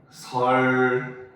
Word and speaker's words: 선릉: 설릉 요렇게 발음이 돼요.